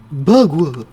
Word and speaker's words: Bagua: Bagua. It rhymes with agua, which is for water, you know?